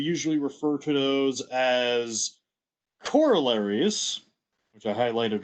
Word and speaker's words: corollary: in mathematics we usually refer to those as corollaries which i highlighted right there but i also want to stress that corollary is the incorrect pronunciation of this the correct pronunciation is co-roll arie um everyone says corollary but apparently the right way of pronouncing it